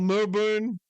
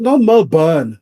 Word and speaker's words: Melbourne: Not Melbourne. Like it's not burn.